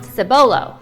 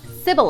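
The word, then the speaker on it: Cibolo: So this word took me a while he would think it's pronounced simbolo but no, it's pronounced Sybil.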